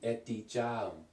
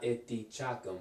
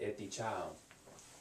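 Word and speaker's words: edeceğim: So it's silent. So this will be etticam. I remember when I first started learning Turkish, I used to pronounce this G by mistake, but it's silent. Etticam, etticam. Okay, so not ettichakam, but etticham.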